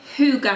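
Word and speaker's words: hygge: I like to call a hookah hamper so probably a lot of people will be like one of his hookah it's this here which is spelt hyg GE the Danish word for warmth and peace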